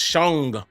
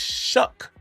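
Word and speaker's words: Shough: I was saying I was saying it was Shang. Shang. It's Shook, spelled S H O U G H.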